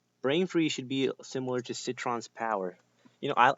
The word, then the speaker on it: Citron: should be similar to citron's power you know i call him cytron because i think cytron sounds like a cooler name but the real pronunciation is citron because he sits anyway brain freeze should